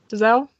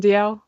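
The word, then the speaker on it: Dalziel: I know I said his name wrong. So sorry, Ryan. I don't know if he listens. It's the I see him on Twitter all over the place. Well, no, it's his brother. It's Ryan DL.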